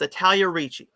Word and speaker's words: Italia Ricci: It's Italia Ricci.